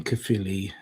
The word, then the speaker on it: Caerphilly: Went to school in Llanbradach, then Caerphilly, and then Bargoed. Oh, there you go. There you go, people. That's how you pronounce Welsh.